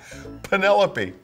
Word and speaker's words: Penelope: Penelope say it again Penelope Penelope why don't I know that I'm embarrassed Penelope Penelope rhymes with the cantaloupe Penelope Penelope Penelope listen to what Nur